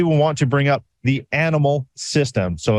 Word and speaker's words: ANYmal: to bring up the animal system so it's a-n-y-m-a-l so it is pronounced as the animal this thing is amazing